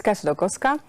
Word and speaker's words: Kasia Dolkowska: So my name is Kasia Dolkowska.